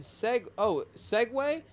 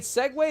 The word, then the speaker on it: segue: No matter how many times I try and segue. Wait, segue is not spelled with way. It's G-U-E.